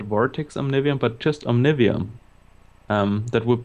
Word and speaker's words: Omnivium: I would say Omnivium. Omnivium, okay. I mean, it's not really a word, like a usual word, so I think you could pronounce it as you like.